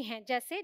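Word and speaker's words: whose: का ठीक है लेकिन इसमें एक्सेप्शन भी है जैसे डब् के बाद देखिए यहां भी है बट हम इसे हुज बोलते हैं ठीक है वूज नहीं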